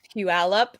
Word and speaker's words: Puyallup: But while we're talking about your shows, how do you pronounce that one show? It's like Puyallup or something. How do you say it? Puyallup.